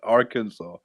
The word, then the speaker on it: Arkansas: ar in front and called kansas but it's pronounced arkansas what was that about i don't know bro